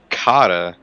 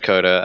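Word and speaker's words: Qatar: watkins glen indianapolis and kata which i know it's pronounced coda i just have no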